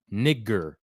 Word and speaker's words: Niger: was uh that was called Niger that's the actual uh that's how you pronounce it if you go to